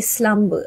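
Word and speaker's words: selamba: So I'm going to spell it the English way, S-L-U-M-B-E-R. The Malaysian way, or is it the Malay way? S-E-L-A-M-B-A, slumber. Slumber. Even the pronunciation is slightly different.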